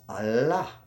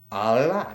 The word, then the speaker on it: Allah: So technically we would supposed to pronounce A-L-L as Allah. Allah, that's how you would pronounce it.